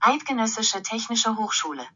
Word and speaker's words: Eidgenössische Technische Hochschule: He went to the Zurich Polytechnic Institute, and let the Google lady pronounce it correctly. Eidgenössische Technische Hochschule.